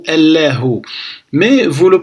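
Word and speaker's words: الله: On a al-alifu et al-lam qui représentent l'article ici prononcé a. Après le lam avec al-fathatu la. Et après le ha avec al-dhammatu hu, allahu.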